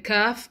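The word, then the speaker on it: كاف: Similarly, when the deepest part of the tongue touches the hard palate of the mouth, then kaf is pronounced.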